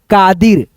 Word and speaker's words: कादिर: तो देखो यहां पे जब इस मात्रा का उच्चारण किसी भी शब्द में स्लो आए, धीरा आए, कम समय लगे पढ़ने में तो हम वहां पे दोस्तों इस मात्रा के लिए केवल आई का प्रयोग करेंगे।